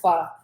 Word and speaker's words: pho: And I think when you order pho, it's the same Okay. cut. How you pronounce it really good.